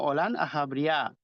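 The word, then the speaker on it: עולם הבריאה: segundo de la creación llamado también bria y pronunciado en hebreo como olann aabria se trata de un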